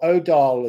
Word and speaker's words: Odal: If you take off this here, you have the energy from Ing, you have Edel, or Odal as it's often pronounced, but in Anglo-Saxon English it's Edel.